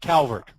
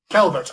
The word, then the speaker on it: Calvert: No, it's Calvert. Calvert.